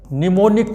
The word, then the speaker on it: mnemonic: See the spelling. M, mnemonic is starting from M. M is silent. And here not I. Here there is E. So mind it, mnemonic code.